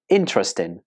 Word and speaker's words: interesting: with four syllables or do you say interesting with three syllables well this word is